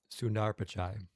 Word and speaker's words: Sundar Pichai: Sundar Pichai. It has a D in it. Like think Sundar Oh, Sundar okay, Sundar Pichai.